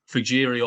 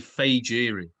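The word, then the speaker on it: Fejiri: journalists on this everyone's been calling him either fujiri or fahiri with a silent j he said it's actually fagiri fei jiri so faye fayoke and a beer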